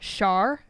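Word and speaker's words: Schär: So it is spelled SCHA with an umlaut R, Char, gluten-free artisan baker white bread.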